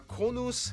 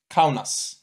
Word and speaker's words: Kaunas: He doesn't pronounce them well, guys, but it's Kaunas and Klaipeda.